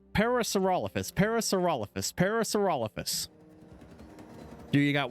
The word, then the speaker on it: Parasaurolophus: Okay, I'm jumping between pronouncing it badly as a joke and actually failing to pronounce it. Parasaurolophus. Parasaurolophus.